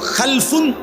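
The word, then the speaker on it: خَلْفٌ: হয় আরবিতে একটা হল খালফুন আরেকটা হল খালাফুন একই শব্দ শুধু উচ্চারণের মধ্যে একটু ভিন্নতা মাঝখানে একটা লাম আছে এই লামটার মধ্যে যদি সাকিন হয় তাইলে হল খালফুন আর যদি লামের মধ্যে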